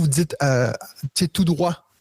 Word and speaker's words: droit: dites tu sais tout droit il y a un T à la fin là mais vous le prononcez pas il y a plein